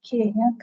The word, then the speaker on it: chi: CI pronunciation will sound like K square.